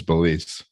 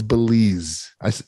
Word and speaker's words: Belize: out with how was beliefs that's all I have I mean something beliefs huh it's Belize I said Belize you said Belize no you said belief you didn't even learn